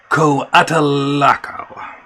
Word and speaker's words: Coatalaco: Yes, it's Coatalaco. Coatalaco. It's just like it's spelled. C-O-A-T-A-L-A-C-O. That's Coatalaco syllables.